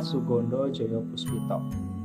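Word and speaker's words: Soegondo Djojopoespito: fenomenal ya, dengan nama Sugondo Joyo Puspito. Ya, seperti ini menggunakan ejaan lama ya. Jadi O dan E di sini dibacanya U ya.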